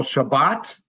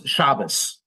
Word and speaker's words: Shabbat: notice by the way in Hebrew it's talit but in yish pronunciation you'd say Talus this hard T at the end often becomes an s in the yish OR ashkanazi pronunciation so for example Shabbat hard T becomes shabas or sukot another holiday in the fall becomes sukus and a talit becomes a Talis that's just the yish accent affecting the Hebrew okay who's